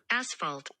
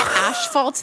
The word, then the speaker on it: asphalt: l l you ready to hear the correct pronunciation hold on asphalt asphalt you've been calling it ashalt this whole time and we haven't noticed many